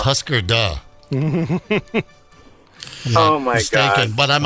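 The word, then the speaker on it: Hüsker Dü: words means do you remember I think it's pronounced Husker Du oh my goding but I'm a mats fan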